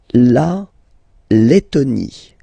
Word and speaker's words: Lettonie: So remember when you've got this E and then a double letter like that, T, okay, then you will have to open your E and it will become E, le, Lettonie. La Lettonie.